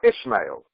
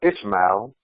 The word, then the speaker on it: Ismail: Where Ismailu and Ismail or Ishmael. In English, we'll say I think it's Ismail or Ismail, but in the Arabic, Ismail.